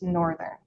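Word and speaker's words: NRTHN: For example, the spelling of the NRT thn departure is pronounced northern.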